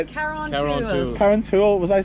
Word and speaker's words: Carrauntoohil: Carrauntoohil.